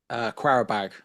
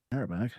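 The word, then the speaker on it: Qarabağ: Quarabag away. Carrier bag. The old carrier bag. We've all been there. Us, Arsenal, you now. I don't think I've ever heard anyone pronounce it with a qua.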